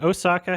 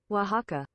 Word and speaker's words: Oaxaca: Is Osaka how I pronounce it? Anyway, this San Francisco World Spirits Competition 2017 bronze medal. Is it Osaka? Is that how I pronounce it? Can somebody please? I might have to look it up. Anyway, so Oaxaca? Is it really Oaxaca? Oh my God. I was thinking of Japan, probably, Osaka. Oaxaca.